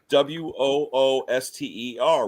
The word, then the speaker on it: Worcester: In Massachusetts, there's a Worcester, Wooster, Worcester. Then there's the Worcester, pronounced Worcester as well.